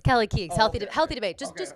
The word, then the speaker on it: Kelly Keegs: say wrong Kelsey Kings yeah you're calling me Kelsey Keys when you know my name is Kelly is that Kelsey Kelly how do you say it's Kelly Keys healthy healthy debate just just don't just don't